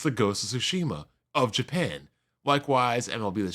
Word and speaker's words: Tsushima: Ghost of Tsushima, I gotta say it correctly, Tsushima, 1.8 million, 29% digital, 50% America, 38% in Europe, 13% in Japan.